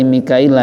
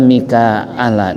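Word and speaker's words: ميكائيل: Wa fi qiraati Mikaila, dan dibacanya Mikaila bihamzi, dengan huruf hamzah, ila, wa ya'i, dan iya, i, kemudian wa fi ukhra bila ya'i, di bacaan lain tanpa huruf ya, Mikaila atau Mikaala dan lain sebagainya.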